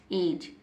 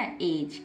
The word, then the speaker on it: edge: क्योंकि डी के तुरंत बाद क्या है? जी, तो डी को नहीं पढ़ा जाएगा, डी को साइलेंट रखेंगे, EGE को ही हम पढ़ेंगे, डी को हम नहीं पढ़ेंगे। डी लिखा हुआ दिखाई देगा लेकिन मुंह से साउंड नहीं निकालेंगे।